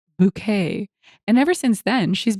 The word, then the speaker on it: Bucket: living next door to hyacinth bucket pronounced bouquet and ever since then